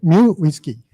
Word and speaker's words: uWSGI: What is the correct pronunciation? One is micro whiskey. Second, uWSGI. Third, mu whiskey.